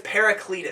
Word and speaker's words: Paracletus: This is Deathspell Omega's Paracletus.